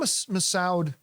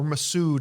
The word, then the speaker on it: Massoud: yeah again the minimum massoud uh or Masood I think is the way it's properly pronounced a re-releases sorry that's